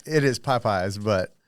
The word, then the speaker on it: Popeyes: Why did I call it putt pies? Okay, first of all, I've just always said it this way, and I don't know why. But Popeyes. Is that not how you say it? Popeyes. But it's But not. if you But s- it's Popeyes. Popeyes. Popeye, the same Popeyes.